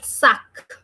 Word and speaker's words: sac: Okay, this is sac, S-A-C. The letter S is pronounced sa. With A, it is becoming sa. Then we have C. So the sound of C was k.